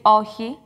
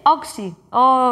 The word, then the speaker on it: όχι: Και έλεγε, κύριε Μητσοτάκη, λέτε όξι. Όχι. Όξι. Ναι, όξι, όξι. Και δεν μπορούσε να το πει. Και μου έκανε τρομερή εντύπωση. Εκεί συνειδητοποίησε ότι αυτό το χ είναι δύσκολο.